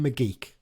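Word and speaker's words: McGeouch: um up next uh Dylan mcgeek that is how you pronounce it I'm pretty sure because I think James Phillips asked him on the interview for the on a BBC Radio Cumbria how do you pronounce it and he's obviously had many different ways of saying it but it's Dylan mcgeek apparently so are you happy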